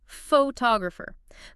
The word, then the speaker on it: photographer: So, photographer, the stress, the main beat is on the second syllable to o.